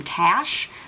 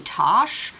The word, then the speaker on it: Tash: in the book where she's annoyed that this guy is pronouncing her name Tash when it should be Tosh, because she's short for Natasha, and it's like, and